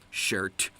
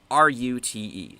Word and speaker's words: Schrute: You spelled his last name wrong. Shirt. It's Schrute.